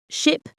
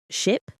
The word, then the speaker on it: ship: Ship versus sheep. Listen carefully. Ship, sheep. The difference is in the vowel sound. Ship has a short I sound, while sheep has a long E sound.